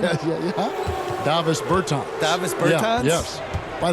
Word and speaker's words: Davis Bertans: Oh, well now, at this point in my life, it's Davis Bertans. Is that how you say his name? Yeah. Davis Bertans.